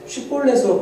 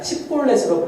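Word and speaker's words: 쉽볼렛: 라고 얘기할 때 쉿볼렛으로 발음하느냐 십볼렛으로 발음하느냐에 따라서 이 사람이 에브라임 사람인지 아닌지를 이제 판별을 하는 거죠.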